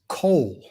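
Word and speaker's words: קול: It is kol. Qol is the way it's spelled out in English.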